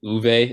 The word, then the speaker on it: Ove: A Man Called Uwe. Is that how it's pronounced, Shane? Yes, I have your approval. In my head, it was Ove.